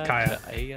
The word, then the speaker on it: Kaeya: It's Kaeya. It's just Kaeya. Okay. That's how they pronounce it.